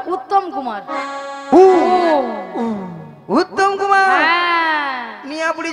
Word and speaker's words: উত্তম কুমার: কুত্তেল কুমার নয়, হ্যাঁ। বলো উত্তম কুমার।